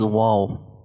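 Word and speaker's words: واو: start of the letter it is usually pronounced from the lips so how to pronounce Tua while pronouncing VA you just make circle from your lips you make circle from your both lips and then separate both lips from each other to produce sound so that sound is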